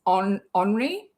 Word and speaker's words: Henri: I have French friends and his name's spelt like Henry would be spelt, with an I though at the end, and it's Henri. That's how you say it.